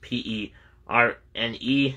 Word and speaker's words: Perne: all right next we have John Perrin or perney I'm not sure how you pronounce that he gets p-e-r-n-e is the parenthesis I guess it's pronounced perny or Pern uh maybe the E's silent so it's so how